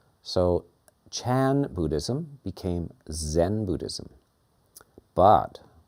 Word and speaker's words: Chan: And the word in China, the school in China is Chan. So the Japanese did not pronounce ch. They pronounced it as z. So Chan Buddhism became Zen Buddhism.